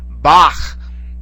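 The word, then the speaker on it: Bach: for the famous composer Bak is pronounced in German the CH there at the end all right that that's uh it's more of a guttural sound okay but it basically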